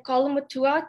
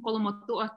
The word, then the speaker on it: Kolomotu'a: Sorry, Joy, I may have pronounced that wrong. If you want to come on really quickly and help out with that. Yeah, so my dad is from Kolomotu'a, Tonga, and then my mom is from Tailevu, Fiji. Thank you so much for